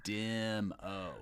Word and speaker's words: Dimmo: actually pronounce the name is it Doo demo demo demo yeah it's like DMO yeah like Troy my co-founder